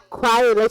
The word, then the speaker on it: Kwyatt: Quiet, okay. It's because you know what, the way that you spell it, I thought the K was silent.